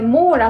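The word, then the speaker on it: MÅLA: んうつむきでした mora 長くれモーラって読むらしいです複合の言葉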